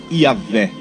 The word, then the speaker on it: Yahvé: A estas 4 letras, os tradutores acrescentaram 2 vogais, ficando então a pronúncia Yahvé, o qual foi traduzido para o nosso português Jeová.